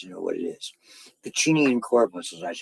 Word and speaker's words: Pacinian: Pacinian corpuscles, that's how you pronounce them.